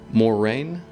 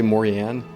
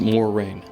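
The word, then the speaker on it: Moiraine: will live stream that it's pronounced more rain i guess you might see me say morianne a couple times in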